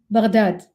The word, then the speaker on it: Baghdad: Baghdad, pronounced with a ghain, stumbling from the back of the tongue and the top of the throat, like a gentle gurgle